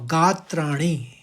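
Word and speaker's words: गात्राणि: और गात्राणी यानी पहले गात निकलेगा। फिर त्राणी निकालिए आप।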